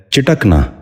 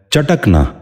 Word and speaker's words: چٹکنا: سنیے، چشمک۔ 10واں اور آخری لفظ ہے چٹکنا۔ یہ غلط تلفظ ہے، درست تلفظ ہے چٹکنا۔ دوبارہ سنیے، چٹکنا۔ بچوں